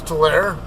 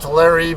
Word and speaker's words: Tulare: Or people call it Tulare, but I don't know why. By the way it's spelled, it should be Tulare. The E is supposed to be silent, and it tells that the A is pronounced A and not A. Or A. Kind of like cane and can.